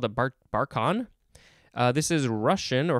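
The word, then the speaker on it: barchan: this is from barcelona spain next we have barcon b-a-r-c-h-a-n it is a noun from 1888 a moving crescent-shaped sand dune that's called a barcon uh this is russian or from the russian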